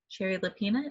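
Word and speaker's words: Shari Lapena: It is called The Couple Next Door by Sherry Lapina. Sherry Lapina, is that correct?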